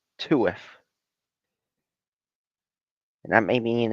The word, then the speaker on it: TUF: I used to call it tough, but I found out it's actually pronounced TUF, and that made me an idiot.